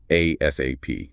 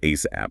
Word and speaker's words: ASAP: You'll hear it pronounced two ways. Letter by letter ASAP. Whereas the word ASAP, like ASAP, it means now, immediately, highest priority.